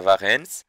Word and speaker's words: Varennes: de fuga de warren a fuga de varennes e sim francês você vai pronunciar warren e para a fuga